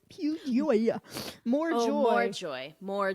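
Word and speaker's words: Più Gioia: I said Piu Gioia, but it is Piu Gioia, which I think means pure joy, if I'm not mistaken.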